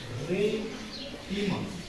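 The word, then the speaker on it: Pheretima: फिरेंटिमा नीट बा, फिरेंटिमा स्पेलिंगनुसार उच्चार करायचा.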